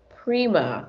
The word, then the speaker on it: Prima: to say it wrong prima like as in prima hair color hair collection coming out